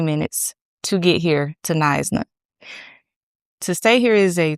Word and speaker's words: Knysna: It is in Nisna, South Africa. That is how you pronounce that. Nisna, South Africa.